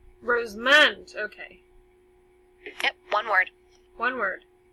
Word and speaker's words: Rosamond: it again for you r OSE like the rows of flour and then mo ND rows moans okay one word one